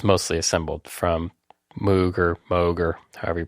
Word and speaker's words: Moog: She got me this semi-kit, although it's mostly assembled from Moog or however you pronounce it, M-O-O-G. If it's got two O's, it's going to be oo. Yeah, except it's not. Moog.